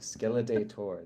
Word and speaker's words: Skeledator: The Skeledator. There we go. The I was reading it Skelinator.